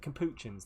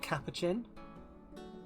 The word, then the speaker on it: capuchin: think let's build the capuchin enclosure here so also i'm 99 sure that it's pronounced capuchin and not cappuccin because kappa chin sounds too much like cappuccino but wait what okay